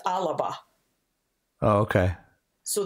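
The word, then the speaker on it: Alba: a but it's pronounced Alaba oh okay so that extra syllable that's put there in the middle is an example of athesis or a farak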